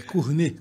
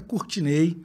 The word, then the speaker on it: Courtnay: Então, antes de mais nada, um dos mistérios, meu nome é francês, então a pronúncia correta é Cournet, como vinho Chardonnay. Mas eu sou baiano, então a pronúncia mais comum é Courtinei, como a gente fala lá em casa, né, mainha, painho e companhia.